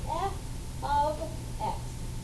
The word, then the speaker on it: f(x): output this thing um in parentheses an we pronounce this we say f of x f of x equals whatever it means the